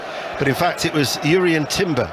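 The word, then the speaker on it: Jurriën Timber: But in fact, it was Jurrien Timber, or Jurrien Timber, as we're told that he wants to be pronounced, not Jurrien Timber, the Dutch international, versatile, signed from Ajax for £34 million.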